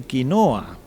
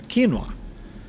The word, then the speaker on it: quinoa: lo compren los gringos, escriben quinoa, que en inglés se pronuncia quinoa.